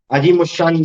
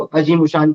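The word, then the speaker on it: अज़ीम-उश-शान: Pronunciation में थोड़ी सी गड़बड़ हो जाती है मेरे से कभी कभी, तो तुम सुनो नहीं देना है ना। अजीम उशान बोलते हैं, अजीम उशान, या आजिम उशान कहीं कहीं जगह मिलता है।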